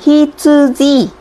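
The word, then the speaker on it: 羊: Và chữ dương này khi đứng một mình nó sẽ có cách đọc. Nó sẽ đọc là hi-tsu-ji. Đây. Chữ dương này đứng một mình nó sẽ đọc là hi-tsu-ji và nó có nghĩa là con cừu luôn.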